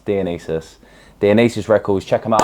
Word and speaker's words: Dionysus: So, Dionus Records spelled Dionus, but it's not. It's Dianis.